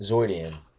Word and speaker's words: Zoidian: Zoidian. It's Zoid, like Zoidian.